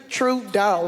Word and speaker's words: Trudeau: Trudeau, like true money, like Trudeau.